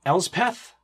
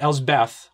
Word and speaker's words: Elspeth: of the talking uh it's going to be elspeth not ell's beth which i always pronounce it and a big shout